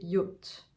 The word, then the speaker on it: yacht: 12, alors ce mot, on va le prononcer yacht. Yacht. Vous voyez le ye qu'on avait dans accueil, ye.